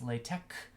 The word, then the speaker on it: LaTeX: like like text but it's actually pronounced lay tech with like a hard K it's actually kind of